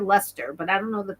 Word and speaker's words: Leicester: It's pronounced Leicester.